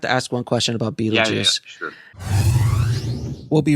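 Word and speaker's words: Betelgeuse: I don't know if it's a pun exactly, but the idea of that we would take BeetleGuice but pronounce it BeetleJuice, and then we changed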